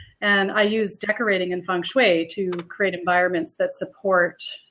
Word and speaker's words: feng shui: Feng shui? Am I saying it right? Yeah, it's feng shui is what it is. I was right. You were right. Yeah, okay. Feng shui.